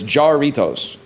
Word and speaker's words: Jarritos: So, the way I would say it is Jarritos. J A R I T O.